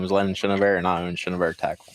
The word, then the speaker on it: Chenevert: And my name is Chenevert, and I own Chenevert Tackle.